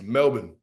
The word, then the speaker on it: Melbourne: one all right is it's Melbourne all right Melbourne like almost like almost like it's it's SP with like an e like a i in almost that's how you say it and Brisbane is like I say it's Brisbane it's not Brisbane so I'm let know